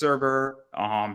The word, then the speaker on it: Cerber: It's not Uber, it's Cerber, being funded on Kickstarter.